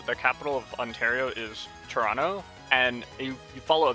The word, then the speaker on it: Toronto: But like we kind of turn that T into like a ch sound and so it's just Toronto and you like don't pronounce the T's at all. The T's turn turn into like ch's and N's and it's a very